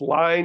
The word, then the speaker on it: Lyne: know uh I'm sorry I keep saying Lynn it's line Adrian line is that the pronunciation okay I believe so